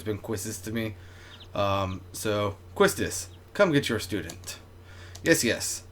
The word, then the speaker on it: Quistis: Your instructor is Quistis. I'll call her now. Just wait here a minute. So I've heard that like Quistis' name is actually pronounced Keistis.